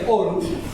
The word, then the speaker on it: Aarhus: tenemos para América Latina, es el convenio de Aarhus, se dice así y se escribe Aarhus 1998, es un convenio también que